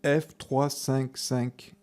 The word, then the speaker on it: F355: La F355 se prononce en réalité F355, ou plus exactement F355 Challenge.